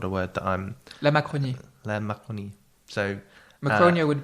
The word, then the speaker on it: Macronie: Muddling Through in Macronia, is that how you pronounce it? Because obviously this is not a word that I'm... La Macronie.